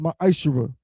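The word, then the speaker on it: מעשר: Means tenth in Hebrew, is pronounced ma'ashera.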